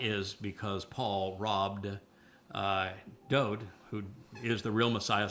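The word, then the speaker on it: דוד: His name is Dod. For people that don't like it pronounced that way, that is the way that he wrote it in all of his own psalms.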